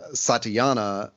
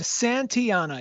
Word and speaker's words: Santiana: you quoted a uh satiana um is that how you say it s s Santana Oh santiana yes thank you because um when